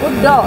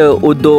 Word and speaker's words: Uddo: Uddo, like. Thank you. Well, finally हमने सही pronunciation सीख ली, वरना अपने मन से उड्डो उड्डू उड्डू कुछ भी बोल रहे थे।